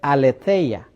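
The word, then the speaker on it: ἀλήθεια: dice y tiene una numeración diferente, se dice aleteya. Lo puede leer ahí entre paréntesis.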